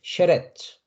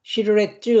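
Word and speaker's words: שרץ: 네, 째레 에 발음으로 네, 쉐레츠. 쉐레츠. 그러니까 시르레츠 하지 않고 쉐레츠 이렇게 발음한다는 것이죠.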